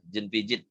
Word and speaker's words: Jean Piaget: Kalau dulu waktu kami kuliah, Jean Piaget, Jean Piaget. Nah, ternyata cara baca namanya Pak Jean ini adalah Jean Piaget.